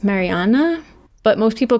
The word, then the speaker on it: Marianne: Today we are talking about Leonard Cohen, the singer, songwriter, poet, and Marianne, the woman who he loved and inspired him. She's Norwe. She was Norwegian and her name is actually pronounced Mariana, but most people call her Marian.